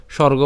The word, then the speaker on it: স্বর্গ: সুবর্গ ঠিক আছে সুবর্গ এই যে আমরা স্বর্গ বাংলাতে যেটা বলি এটা উচ্চারণ করা হচ্ছে সুবর্গ এরপর দোয়ারম আমরা দুয়ার